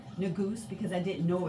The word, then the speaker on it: Negus: Yes, Negus, Negus, and some people might say Negus. It's how you would like to pronounce the U. Is it a high back vowel or is it a mid-central vowel?